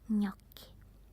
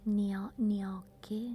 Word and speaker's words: gnocchi: And then probably the hardest is the nya sound, gnocchi. It's not gnocchi, no, nya.